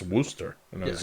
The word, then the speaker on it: Worcester: There is a town in Massachusetts that's spelled Wooershire and it's called Worcester. Yeah. I was going to say, isn't that like a Scottish term? I saw somebody, they're like, "It's Worster."